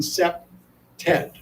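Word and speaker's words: CPTED: a seped expert so in case you can't pronounce cpte d we pronounce it by saying sep Ted and seped stands for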